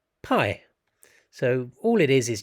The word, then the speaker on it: pi: p so it's just the lowercase symbol of the letter that makes a p sound a p sound in the greek language so it's pronounced pi in the english language